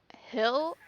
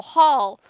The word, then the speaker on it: Hall: I chose Raya the Last Dragon with Don Hill? No, Hall. Almost said his name wrong.